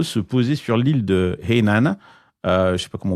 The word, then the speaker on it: Hainan: Et on a vu le 9 avril dernier un avion cargo se poser sur l'île de Hainan. Je ne sais pas comment on prononce. Hainan. Hainan, oui.